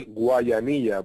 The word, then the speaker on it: Guayanilla: You just butchered I know. My hometown. It's called Guayanilla. Guayanilla.